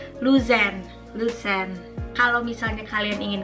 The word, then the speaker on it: Luzern: Padahal yang seharusnya E di tengahnya itu dibacanya jelas. Jadi Luzern.